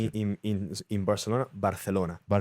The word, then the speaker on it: Barcelona: What's the correct pronunciation in in in Barcelona? Barcelona. Barcelona. Barcelona.